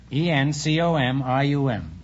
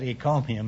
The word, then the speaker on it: encomium: for some curious reason i said econium instead of encomium and i got a